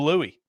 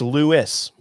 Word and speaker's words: Lewis: And, he said it is Lewis.